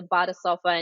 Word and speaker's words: Badesofa: how it's spelled phonetically, but it's a Badesofa, and it's literal translation from German as a bath sofa.